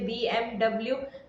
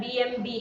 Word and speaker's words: BMW: BMW जैसे कि 3 शब्दों से बना एक ब्रांड है, ऐसे में लोग इसे BMW बोलते हैं, लेकिन ये गलत है। गाड़ी का सही उच्चारण BMB है।